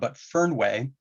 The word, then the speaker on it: Fernweh: And there's a German word, and I'm gonna have a hard time pronouncing this, I'm sure, but Fernweh is a far sickness.